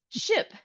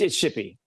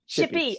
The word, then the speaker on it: Shippee: Shippy. Shippy. Okay. I wanted to say Shippy, but it's okay. It's a happy name. It's a happy name. It's very happy. It rhymes with hippie, you know, so it's a good thing.